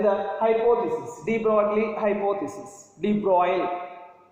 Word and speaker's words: de Broglie: De Broglie, correct pronunciation, de Broglie.